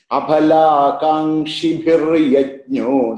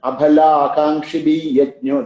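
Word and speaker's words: अफलाकाङ्क्षिभिर्यज्ञो: Here we have to, there one place sometimes the children make a little bit of this is abhala kangshi bhir yajno, that bhir yajno, sometimes when children chant you become abhala kangshi bhi yajno, that bhir, that rebha, sometimes they make a mistake. That's a place we have to little careful about.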